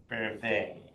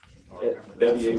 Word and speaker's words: Bevier: and we are here for our prosecuting attorney's office update with Bervet. Bavir. Bevier would be the French pronunciation. It's been Americanized in that regard.